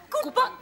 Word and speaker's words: Kapoor: Oh, well, we wouldn't miss the Kapoor's barbecue for the world. Pronounced Koopa.